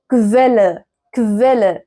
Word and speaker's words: Quelle: الكومبيناسيون ده بيتنطق كف. طبعا هي دي حاجة غريبة جدا ان الاو هنا بتتنطق في. طيب ازاي؟ zum Beispiel دي Quelle.